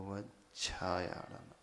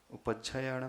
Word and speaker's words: ओवज्झायाणम: जो सही तरीके से प्रोनाउंसिएशन करे वो ओवज्झायाणम, आपकी टंग जो टिस्ट होगी, उपज्झायाणम नहीं, कई लोग उपज्झायाणम में पड़ जाते हैं।